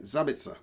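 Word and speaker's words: Sabitzer: goal strong team off the bench sheikh masa sabitsa zabitsa marcel zavitza i gotta say it right zabitsa i like that name and i like this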